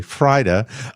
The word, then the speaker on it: Freida: She wants to assure fans that she is not dying after her sister Freida, it's spelled F-R-E-I-D-A, Frida, asked for prayers.